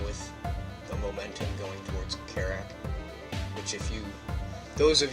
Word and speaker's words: Kerrack: say that for sure but carak is spelled k e r r a c k and that's also